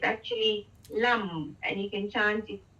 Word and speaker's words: lam: It's lum. It's actually lum, and you can chant it lum, lum. Lam.